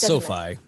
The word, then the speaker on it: SoFi: how you say it sophie so far it's sophie i say sophie just because i used to